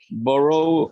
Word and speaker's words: borrow: better and this one borrow borrow a few borrowed a few the few borrowed a few borrowed a few borrowed a few this one here this o is more like ba borrow borrow W borrowed a